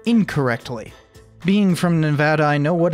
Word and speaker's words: Nevada: Nevada, not Nevada.